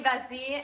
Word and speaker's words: Vesey: I'm here with Vesey, and I said it right this time.